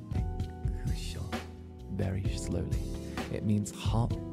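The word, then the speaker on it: 熱中症: Can you say Necchushou very slowly? It means hot heat stroke in Japanese. Necchushou.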